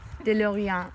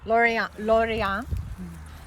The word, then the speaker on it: Lorient: This is De Lorient. De Laurent. You pronounce it for me. De Lorient. Lorient. This is another variety from farmer Jean Marchal.